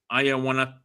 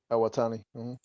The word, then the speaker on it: Iwatani: We have Sumi Sakai, Evil and Cho versus Hiromu Takahashi, Mayu Ayawatani. Iwatani. Iwatani. Iwatani. Oh, Iwatani. Yeah. My gosh, Lou. If you keep mispronouncing names, you're going to have people giving us hate comments.